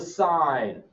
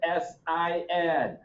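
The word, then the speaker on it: sine: trig ratio is the sign of an angle the sign of an angle it is abbreviated s-i-n but that is still pronounced the sign of the angle this is not the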